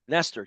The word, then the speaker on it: Nestor: I guess I am Nester he is Luke we are wnst am570 talson Baltimore we never stop with a my name rhymes with jester Nester Jester we're Baltimore POS POS